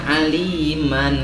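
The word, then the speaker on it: عليما: Contoh, misalnya aliman, kan ini aliman nih. Oh ya. Aliman. Di sini waqaf. Iya. Karena di sini waqaf, nggak boleh dibaca aliman, tapi dibaca alima.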